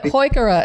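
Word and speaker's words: Heuchera: day and he called HOA HOA and so HOA is the proper pronunciation it is but you know huk HOA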